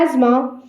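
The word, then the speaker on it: asthma: अस्थमा, अस्थमा को English में कहते हैं एज़मा। एज़मा, इसकी प्रोनाउंसिएशन पे ध्यान दीजिएगा, इसको हम अस्थमा नहीं बोलते, इसे हम एज़मा कहते हैं, एज़मा।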